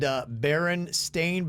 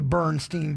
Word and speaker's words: Berenstain: And somebody said, Berenstain Bears is pronounced with an A, not an E, like everybody, including myself, seems to have always done. But then you ask yourself, if everybody calls them the Bernstein Bears, is it the Bernstein Bears?